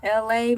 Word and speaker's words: LA: Welcome into LA. My name is LA, pronounced like LA, like the city on that front there.